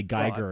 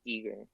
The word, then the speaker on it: Giger: I mean, yeah, the pronunciation would be Yeah, anywhere, pretty much anywhere in Europe, it's going to be Giger, I think.